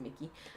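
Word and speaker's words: Mikki: Yes, it is Mickey.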